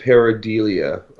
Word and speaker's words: pareidolia: It's called pareidolia bunkers, I believe is how it's pronounced. You're right, it is.